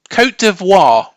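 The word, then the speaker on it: Côte d'Ivoire: be honest Co C co deoir co deoir have I done that Justice there yeah you don't pronounce the T otherwise that's perfect okay codo codo for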